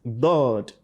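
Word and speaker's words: ضاد: Now pronounce it dod. Dod. Dod. Dod. Dod. Dod. So you must differentiate between dod and dal.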